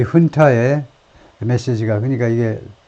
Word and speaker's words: junta: The junta's message has been 이 훈타의 메시지가 그러니까 이게 그 라틴어에서 스페니쉬에서 나온 건데요. 스페니쉬에서 나왔기 때문에 스페니쉬는 이 J를 H 발음을 하죠. 그래서 준타가 아니고 훈타인데 이 훈타의